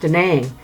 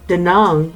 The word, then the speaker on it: Da Nang: by cash FYI da na ng is commonly pronounced 'da name but it's pronounced the numb with the you rather than an a locally